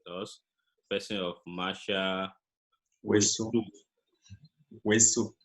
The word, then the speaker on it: Houessou: Houessou. Houessou. Yeah, Yeah. I pronounce it very well.